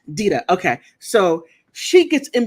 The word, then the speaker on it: Dita: I think her name is Dita or Dita. I think it's pronounced Dita. Dita.